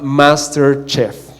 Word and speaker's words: MasterChef: Pero el reality que nosotros encontramos se llama MasterChef. Y MasterChef, perdón, lo dije super gringo, ¿no?